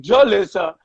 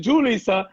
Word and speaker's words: Julissa: got mad at me for saying jolissa instead of julissa so i'm like yo